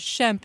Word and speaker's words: Shemp: long time to realize that his name is Shemp not shrimp but then I found out that the shrimp name is a mispronunciation well he was was born was he